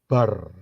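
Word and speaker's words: בר: Kalau saudara lihat yang ketiga, perhatikan huruf Beth dan Resh sebelah kanan, ya. Beth dan Resh itu kalau dijadiin satu, itu bacanya bar.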